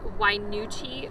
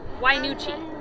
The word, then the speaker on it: Wynoochee: from what it was called yeah it's called wainuchi waterfall it's a hard one why nuchi it's spelled just like this why nuchi and what